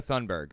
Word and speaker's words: Thunberg: How to pronounce Thunberg. Greta Thunberg.